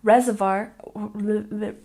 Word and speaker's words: reservoir: good and number 17 Reservoir and number 17 Reservoir we stress the first syllable reservoir reservoir one more time Reservoir